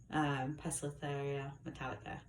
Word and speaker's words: Poecilotheria metallica: me working with a huge beautiful female metallica pestitheria metallica yes said it right anyway but this is